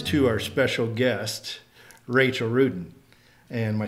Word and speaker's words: Ruden: That brings us to our special guest, Rachel Rudin.